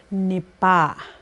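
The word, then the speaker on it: nipâ: With this one, it's very important that you pronounce it as nipa. Because this pronunciation, you have to know, this is where you have to know that ah sound is very important, because if you pronounce it as nipa, now you're saying kill him or her, okay?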